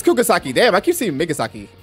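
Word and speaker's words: Kugisaki: I said Migasaki. It's Kugasaki.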